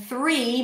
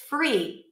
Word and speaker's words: three: an F, and then three might come across as free if you bring the bottom lip to touch the top teeth instead of the tongue. Free, right? We are free people. If I were to say that, you would assume that I'm saying we are free with an F, free people. But three is different because you got to stick the tongue out.